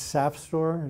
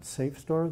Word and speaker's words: SAFSTOR: It's Safstor. It rhymes with sap, not Safstor. There's no E there.